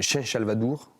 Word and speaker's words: San Salvador: pris la graphie occitane, San Salvador, Chen Salvador, comme ça se prononce ici, Chen Salvador même, sans le R.